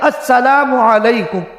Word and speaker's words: السلام علیکم: وہ صحیح ہونا چاہیے، السلام علیکم، پورا لفظ نکالے، الف لام کو کھائے نہیں، الف لام کو جو لوگ کھا جاتے وہ کھائے نہیں، بالکل صحیح تلفظ۔ اگر